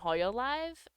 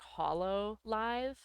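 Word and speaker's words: Hololive: They just can't go by their name from Hoya Live uh anymore. Uh just because or I I said it wrong. I I should really say it like Hollow Live.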